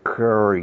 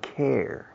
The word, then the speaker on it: care: Dice curry. No, care. Care, como cuidados intensivos.